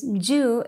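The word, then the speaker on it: 十: 10 is ju in juice.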